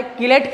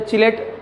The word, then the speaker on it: chelate: पढ़ने में आता है तो चिलेट पढ़ते हैं अपन, या चिलेटिंग इफेक्ट भी पढ़ते हैं, तो हमें तो बोल के सुनाना नहीं है एग्जाम में, हमें लिखना है, तो प्रॉपर प्रोनाउंसिएशन तो इसका किलेट है।